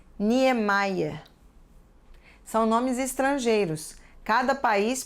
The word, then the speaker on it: Niemeyer: nós vemos assim bismayer da mesma forma que lemos o nome do arquiteto famoso Oscar Niemeyer e se diz Niemeyer são nomes estrangeiros cada